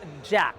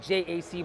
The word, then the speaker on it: JAC: interesting truth be told this brand is actually pronounced Jack all this time we've been calling it jaac but it's actually called Jack not to be confused